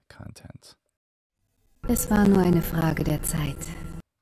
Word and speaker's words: Frage: Es war nur eine Frage der Zeit. What is the vowel sound at the end of Frage? If you guessed a schwa, you're right.